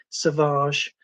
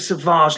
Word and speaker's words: Savage: I believe that's the Australian pronunciation, Savage.